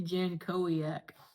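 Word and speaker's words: Jankowiak: We're not going to It's Andy Janco. That's how you say it.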